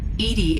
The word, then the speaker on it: EDI: airlock is a jar why are you named edie edie is the phonetic pronunciation of e d that is an acronym